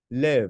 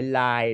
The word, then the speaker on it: live: muốn thật sự chuẩn đọc theo em liv không phải live đâu nha Em thấy nhiều anh